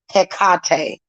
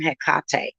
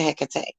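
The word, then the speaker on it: Hecate: a when you take a walk with HEC heate that's how they really pronounce her name heate okay it's actually how it's pronounced but some people pronounce it heck so so witchcraft is very much legal that's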